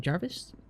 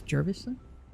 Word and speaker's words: Jervis: then we have Jervis I have a bad habit of saying Jarvis it's Jervis more than wel can say